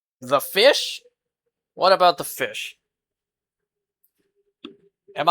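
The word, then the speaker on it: ghoti: Pronounced like fish. What? Pronounced like fish. It achieves this by borrowing sounds from other common English words. GH as in Tough like the F sound.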